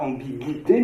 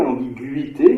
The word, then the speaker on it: ambiguïté: cohérente, puisqu'il faut signaler qu'on ne dit pas ambiguïté, mais ambiguïté, donc on met l'accent sur le U pour montrer que c'est bien le U qu'il faut prononcer différemment.